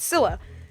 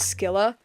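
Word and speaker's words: Scylla: longest time it was skilla for the longest time I pronounced it a skilla cuz I genuinely didn't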